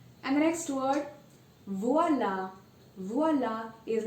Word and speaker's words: voilà: It's voila. And you see that there's an accent grave over the letter A, but there's no change in sound.